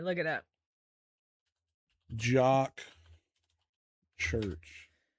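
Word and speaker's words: Jok Church: Okay, now I got to know how to pronounce his name. Here you go. All right. Look it up. Jock Church, but it was also the first syndicated Oh, man.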